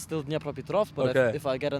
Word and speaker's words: Dnipropetrovsk: It's Dnipropetrovsk, but like Dnipropetrovsk. Yeah, it was actually not that bad, but like they changed it. Right now it's just Dnipro, Okay. So on my passport, like it's still Dnipropetrovsk, but if I get a new passport, it's